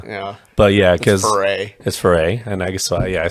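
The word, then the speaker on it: Foree: all the time yeah but yeah because his foray and i guess yeah i said it right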